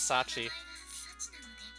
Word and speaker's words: Sachi: As you know, my name is Sachi. Apparently that sort of rhymes with room 3.